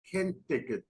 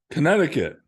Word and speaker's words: Connecticut: there you go university of hartford and central ken ticket state university school of business i i find it difficult at times to pronounce certain words can take it how do you pronounce that connecticut connecticut okay can uh and believe it or